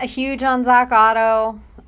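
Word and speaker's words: Ottow: a huge on Zack Otto is it Otto it is Otto it seems so it's spelled kind of weird anyway I'm not super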